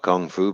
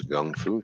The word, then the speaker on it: kung fu: that's right and chinese uh we call it kung fu but it's actually the correct brown pronunciation is gung fu chinese kung fu it's all it's all defensive